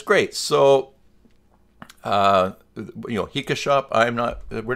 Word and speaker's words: HikaShop: that's how it's pronounced, HikaShop. Now, if you play Pokemon, like I do, it rhymes with Pika, as in Pikachu. So it is officially HikaShop.